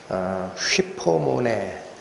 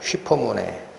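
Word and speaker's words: ὑπομονή: 예, 지난주까지 저희는 휘포모네, 워낙 중요한 개념이라 제가 헬라어로 여러 번 발음을 해드립니다. 휘포모네, 무슨 뜻이다 그랬습니까?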